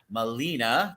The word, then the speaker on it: Melina: Central Florida Vocal Arts is putting on or presenting Melina, did I say it right?